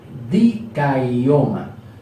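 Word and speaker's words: δικαίωμα: Dikaioma, se pronuncia dikaioma, ¿ok?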